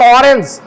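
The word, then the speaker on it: orange: এরকম ও এর উচ্চারণ যখন ও হবে, যেমন অরেঞ্জ, অরেঞ্জ আমরা বলি না? আচ্ছা, অরেঞ্জ আর ওয়ান, এই দুইটার মধ্যে পার্থক্য কি? অরেঞ্জটা উচ্চারণ করতে ও এর মতো হচ্ছে, আর এখানে ওয়া, ও এর উচ্চারণটা কিসের মতো হচ্ছে?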